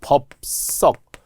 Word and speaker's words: 법석: 그래서 우리 기억하 건데 법석 분명히 비읍 받침 다음에 우리는 된 소리로 발음은 나지만 예사 소리로 었잖아 난리법석 이런 거 했었죠